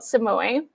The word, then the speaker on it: Samui: Yeah, so every time I go to Got Samui, yes, I always check that I pronounced that correctly.